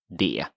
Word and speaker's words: det: The T is not pronounced sometimes, so det is what you might hear.